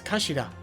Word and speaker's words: kashira: It's written as head in Japanese, but it's pronounced as kashira, I believe.